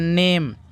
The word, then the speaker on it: name: जैसे कि NAME, NAME, इसको पढ़ते हैं नेम।